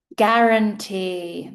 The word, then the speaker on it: guarantee: guarantee The U here is silent.